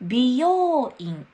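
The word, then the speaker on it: 美容院: です発音は分美容院です美容院これはヘアーサロンですよヘアーサロン発音が似ているので気をつけましょうちょっと練習しましょう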